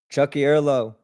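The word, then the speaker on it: Tiocfaidh ár lá: Chucky Erlaw.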